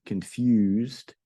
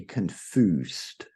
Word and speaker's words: confused: And for pronunciation here, you want to really get that U, confused. In other words, you don't want to say confused. No, it's you, confused.